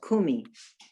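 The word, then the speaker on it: קומי: cuff you know actually you would be supposed to stress that first syllable that line is a stress mark means kumi and later on you're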